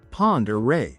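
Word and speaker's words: Pend Oreille: Sandp Point sits in northern Idaho, cuddled up next to Lake Pendor. And if you just had to Google how to pronounce that, you're not alone. It's Ponderay, by the way.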